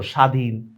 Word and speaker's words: স্বাধীন: এবার দেখো বফলা এটা যদি শব্দের শুরুতে যদি উচ্চারণ হয় বফলা এটার কোন উচ্চারণই হয় না। দেখছো স্বাধীন স্বার্থ বফলা শব্দের শুরুতে কোন উচ্চারণই হয় না।